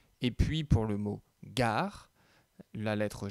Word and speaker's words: gare: La gare, c'est avec la lettre G. Et qui se prononce G.